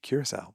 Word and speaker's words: Curaçao: So, a lot of people have issues with my pronunciation of Corsu and saying it's it should be something else. And that's why we say Curaçao. That's why we have a version that we say that we're comfortable with and you guys recognize.